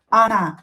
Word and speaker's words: она: Or not stressed will be pronounced as a. Она, but don't forget about stress. Stress the correct vowel in this word.